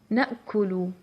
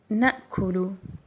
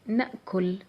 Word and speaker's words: نأكل: نأكل, نأكل. And of course you can pronounce it with سكون at the lam, so it's your choice. You can say نأكل, نأكل.